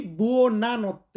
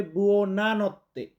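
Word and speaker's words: buona notte: আর যেহেতু রাতের বেলা বলি আমরা শুভ রাত্রি তখন আমরা বলি বুনাত্তে। ওটা বনতে না ওটা হবে বুনাত্তে।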